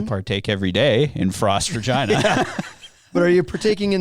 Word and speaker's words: Regina: The city of Regina, for those who are not from here, that is how you say it. Regina.